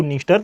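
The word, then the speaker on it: Dniester: असल में ये डी साइलेंट है। इसको नीस्टर, नीपर और डॉन कहा जाता है।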